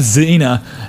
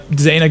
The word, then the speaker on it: Dzejna: I know the J is supposed to be pronounced like an I, as most countries in Europe pronounce it like that.